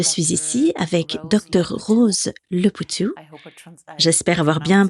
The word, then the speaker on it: Leputu: Je suis ici avec docteur Rose Lepou. J'espère avoir bien prononcé votre nom.